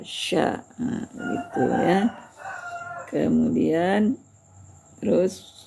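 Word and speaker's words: ش: Kemudian syin syin kalau berbaris atas sya sya sya sya.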